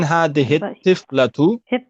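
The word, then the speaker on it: هذه الطفلة: Yeah, we don't pronounce the lam because the ta is a sun letter. So man hadhihi tiflatu.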